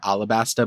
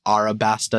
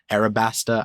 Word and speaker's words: Arabasta: of arabasta uh and I'm pronouncing it like most people say Alabaster but then recently there was like a correction that it's arabaster it's like Arab arabaster I haven't gotten the